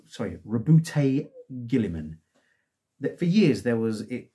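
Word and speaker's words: Roboute: was it you know debate is it robert is it robert is it robot is it rebout i don't think anyone went robute but apparently that's how pronounced he yeah the primark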